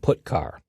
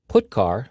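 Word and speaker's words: putchar: character IO functions are gitar and put car that's how I pronounce them git car fetches a character from standard input putar sends a character to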